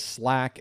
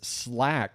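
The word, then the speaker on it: SLAAC: 47% of you, not quite a majority, say the answer is Slack. SL L AAC. That's how we pronounce SL AAC apparently, which is Slack.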